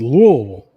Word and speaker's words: Louisville: It's pronounced Louisville. Louisville. Louisville. No, you you can't even V. It's L. That's the way they say it. I'm just going off their pronunciation. They don't really say the the the letters, the vowels, nothing. Just the L's.